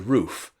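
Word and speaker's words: Rufe: One of the more interesting A6M2s was a floatplane version built by Nakajima and known to the Allies as the Roof, and that's spelled R-U-F-E.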